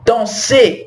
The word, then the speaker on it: danser: O fonema do ER é igual ao fonema do E acento agudo, tá? Chanter, chanter, danser, danser.